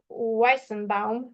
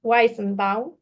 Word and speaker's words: Weizenbaum: Eliza is a chatbot created in 1966 and by Yuzef Joseph Weizenbaum. I'm sorry, I have this well, always this feeling to write uh uh Jewish names with uh Polish pronunciation, sorry. Um so, Weizenbaum.